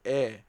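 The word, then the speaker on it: へ: direction of the move particle it is always pronounced as e not he okay all right um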